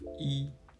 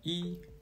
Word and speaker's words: 一: The last case is the tonal change of 一. When 一 represents the number 1, it's pronounced as the first tone. However, when the syllable following 一 is in the first, second, or third tone, 一 is pronounced as the fourth tone, like 一. When the syllable following 一 is in the fourth tone, 一 changes to a second tone, that is 一.